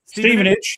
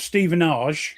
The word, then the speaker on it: Stevenage: Stevenage. Yes. Stei, John. Great. See, they like the time. Ste, not Stephenage. No, Steen age. It's Steven.